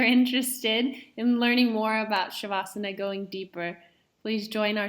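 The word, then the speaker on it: śavāsana: which usually isn't added, but I say it shavasana because it is the sh letter.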